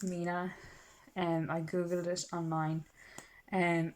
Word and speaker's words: 3INA: So a lot of people get the name wrong, call it Trina or Trina, or because you think it's a tree and people go tree in But anyway, it's pronounced Mina.